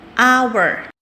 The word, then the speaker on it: hour: dia konsonan satu lagi Hour Hour ini meskipun depannya pakai konsonan tapi hanya enggak dibaca jadi owner karena dia bunyinya